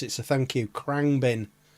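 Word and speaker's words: Khruangbin: Krangbin. I didn't know. I had no idea how to pronounce it, so thank you. Krangbin. Krangbin.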